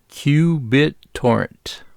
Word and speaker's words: qBittorrent: And then we download the qBittorrent app. And we use that app to download Kali Linux. Pronounced q bit torrent.